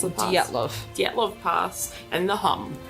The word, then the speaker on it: Dyatlov: So What- that was how do you pronounce the pass? Dyatlov.